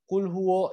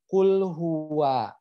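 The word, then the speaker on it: قل هو: allohu bukan kulhu allohu kulwo jadinya kulhu wa Nah itu salah Jadi bacanya harusnya kulhu wa ya ingat yang harus dibaca adalah kulhu wa terlebih dahulu seperti itu jadi jangan bacanya kulwo Ya tapi kulhu wa kulhu allohu kemudian masuk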